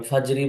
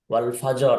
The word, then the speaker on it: والفجر: والفجر হ্যাঁ, এই জিভে চাপ দিয়ে ধরে র উচ্চারণ করতে হবে। ফাজরি বলা যাবে না, আবার ওয়াল ফাজর, ফাজরও বলা যাবে না। একটু জিমের মাখরাজ থেকে স্লিপ করে রয়ের মাখরাজে চলে আসতে হবে।